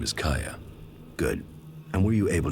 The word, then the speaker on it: Caja: are true kaya oh i've been pronouncing it wrong this whole time saying kaja kaya okay well there you